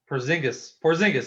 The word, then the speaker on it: Porzingis: unicorn is the the key um i can't pronounce that motherfucker's name but porzingis porzingis that's it um he is basically sat out